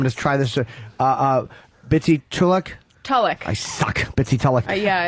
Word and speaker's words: Tulloch: Tulloch.